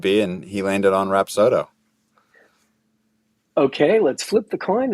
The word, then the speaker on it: Rapsodo: Is it pronounced Rapsodo? Rapsodo, yeah. There's a couple, some people say Rapsodo, but it is Rapsodo.